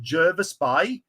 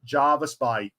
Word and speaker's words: Jervis Bay: get Jaris Bay or Jervis Bay the locals pronounce it Jervis Bay everyone else pronounces it Javis Bay I know the military call it Javis Bay in a Mr buaron chopping board here we